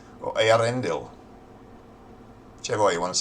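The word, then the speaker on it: Eärendel: It just means that you pronounce the A separately from the E. Earendel. Or Earendel.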